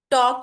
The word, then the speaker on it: talk: के साइलेंट है नी टॉक में एल साइलेंट है टॉक नहीं होता टॉक